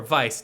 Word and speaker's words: Weisz: Okay, so our next scene, we meet our leading lady, played by Rachel Weisz, or Vice, depending on how you choose to pronounce that, Angela.